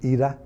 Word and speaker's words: Ida: I think Ida are as they pronounce it in Polish EDA has that one wrapped